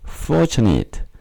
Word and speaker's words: fortunate: 좋은 행운의 반대말 키죠 발음에 유의해야 되는데요 forate 아니라 fortunate fortunate 4의 엑센트가 있고 KN 네트가 아니고 니죠 fortunate fortunate 지금 여기서는